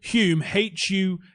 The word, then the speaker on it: Hume: Google Hume, Hulme. That's how it's pronounced.